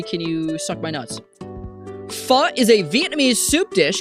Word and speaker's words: pho: Instead of going straight to Guildhouse, I went to get pho with Joabunga.